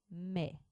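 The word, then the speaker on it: maïs: prononcera mais par contre si on veut prononcer ma is il faudra défaire le digramme à i il faudra séparer le a du I on le fait à l're du tréma de sorte que de rénava on lit ma is si le tréma est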